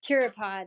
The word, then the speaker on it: Curipod: How do you spell it? CurioPod.